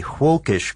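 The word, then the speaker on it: völkisch: also something called a hawkish group and that's with a V but pronounced the German Way right and you might be asking yourself what is hulkish it's a movement in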